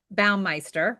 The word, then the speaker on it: Baumeister: There's a psychologist called Roy and I always want to say his name the right the wrong way, Melinda. Baumeister, right?